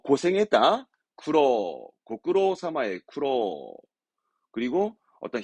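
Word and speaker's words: 苦労: 쿠로.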